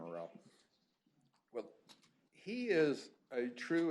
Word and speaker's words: Aurel: Aurel is, and that's the way I pronounce her name, Aurel.